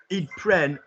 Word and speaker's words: ils prennent: Ils prennent, rhyming with 10.